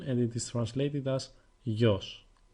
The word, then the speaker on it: γιος: Son is masculine and it is translated as γιος. It is only one syllable, so it is not particularly hard. You just have to pay a little more attention on the way γάμα is pronounced.